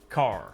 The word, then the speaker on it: car: Notice that the final R sound is not pronounced in British English. Father ends in a simple schwa vowel, like father. And in Father. car, the vowel sound is lengthened in place of the R sound. Car. Car.